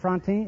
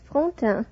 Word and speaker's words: Frontin: Miss Josette Frontin, is that right? Am I pronouncing your name correctly? Not very correctly. It is Frontin.